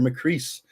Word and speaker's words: Macris: form conversation is McCree. What's up? How you doing? Is it now? It's McCree, right? Am I saying this right? That's right. You got it right. Rhymes with peace, not with piss.